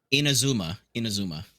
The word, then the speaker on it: Inazuma: Inazuma.